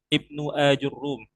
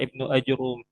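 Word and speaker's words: ابن آجروم: Namun sejatinya yang sesuai ya dengan ee kitab-kitab tarikh kalau kita baca biografi beliau. Maka penulisan yang benar itu adalah Ibnu Ajurrum. Ya, Ibnu Ajurum.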